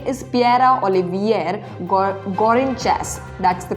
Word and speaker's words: Pierre-Olivier Gourinchas: His name is Pierre-Olivier Gourinchas. That's the correct pronunciation.